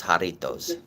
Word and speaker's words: Jarritos: The J is an H. The tamarind. Yeah. It's like haha. So it's Jarritos. Tamarindo. Okay. That's how you say it in Spanish.